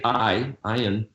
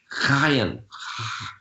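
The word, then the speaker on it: עין: People just say ayin, but it's more like actually a guttural GH, chayin, Chayin, not heavy, not like chet, but soft guttural. Chayin. That's the way the ayin's pronounced.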